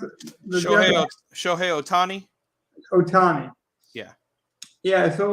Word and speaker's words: Ohtani: How do you pronounce it? Shohei Ohtani. Ohtani.